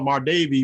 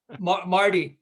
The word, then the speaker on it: Marty: I always call her Mar Davy, but I'm pretty sure I'm getting her name wrong. What is her name? Yes. Marty.